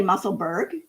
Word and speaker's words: Musselburgh: So it's a lot of people say Musselburgh, but if you look at the way Edinburgh is spelled, it's spelled exactly the same way at the end, and everybody says Edinburgh.